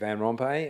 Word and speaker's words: Vanrompe: Hopefully I've pronounced that right. Is it or Rome? Uh good evening everyone. My name is Vanrompe.